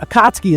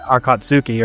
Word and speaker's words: Akatsuki: Akotssky is one I remember like, oh man, what is the because you read it and it doesn't seem to make sense and then you just kind of go Yeah. You're calling it Akatsuki or something like Yeah. I did that for the longest time. Yeah. Before the record in your head, you're going Akski, Akatsky, Akatsky, Akatsky, Akski.